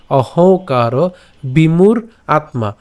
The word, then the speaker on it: অহংকার: প্রকৃতে, প্রকৃতে ক্রিয়মানানি, ক্রিয়মানানি গুণৈ কর্মাণি সর্বশঃ অহংকার, অহংকার, এই যে উঁ রয়েছে আমরা নাকে উচ্চারণ করবো, অহংকার বিমূঢ় আত্মা, আমরা এটা একসাথে উচ্চারণ করতে পারি, বিমূঢ় আত্মা, বিমূঢ় আত্মা, ঠিক আছে।